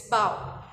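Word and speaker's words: bough: So the first word is bow. Sorry, I pronounced it wrong. It's bow.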